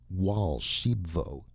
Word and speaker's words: Archambaud: "I caught Archambaud here," he indicated the other man, "stealing eggs from my golden goose, and—" Raoul Archambaud, pronounced Wal Shibvo, interrupted excitedly.